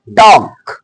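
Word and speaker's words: talk: देखि नेक्स्ट इसे बोलेंगे टॉक टॉक टॉक ल्क नहीं टॉक टक भी नहीं बोलेंगे टक टॉक मीस बातचीत करना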